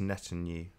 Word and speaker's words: Netanyahu: It's pronounced Netanyahu.